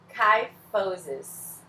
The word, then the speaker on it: kyphosis: lordose e a cifose, lordosis, kyphosis. É assim que se pronuncia essa palavrinha.